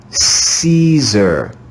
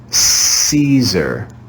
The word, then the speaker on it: Caesar: of the letter e caesar that's why we read it with a soft english c caesar here we see an